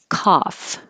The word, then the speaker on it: cough: Cough. This is the ah, which you really have to open.